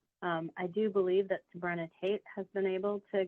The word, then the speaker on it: Sabrina: actually said it right in the first time Sabrina so my name is yeah it just sounds